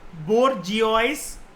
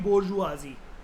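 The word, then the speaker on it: bourgeoisie: इसको बोर्जियोइस करके आपको लग रहा होगा, प्रोनाउंसिएशन जो होती है वो होती है बोर्जुआजी, ठीक है।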